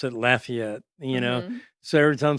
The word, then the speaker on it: Lafayette: heart because I'm from Louisiana and where we pronounce it Lafayette, you know. So, every time someone says Lay it, I'm going like it's Lafayette.